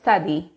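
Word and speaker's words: צדי: The letter tzadi, pronounced, makes a ts sound, which is personally how I do a snake, but maybe that's only me. Tzadi sounds like the letters T and S together, and that's why I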